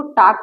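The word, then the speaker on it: talk: यहाँ पर देखिए टाक, इसको टाक पढ़ा जाएगा बिकॉज रियल साइलेंट है।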